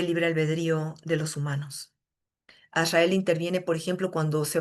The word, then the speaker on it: Azrael: Azrael se escribe A-Z-Rael. Azrael.